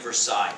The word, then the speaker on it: Versailles: And that's the Treaty of Versailles. That's how I pronounce it, by the way, Versailles, not Versailles, but Versailles.